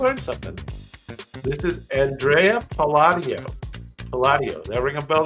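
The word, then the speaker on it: Andrea Palladio: you got to learn something this is Andrea padio padio that ring a bell to anybody padio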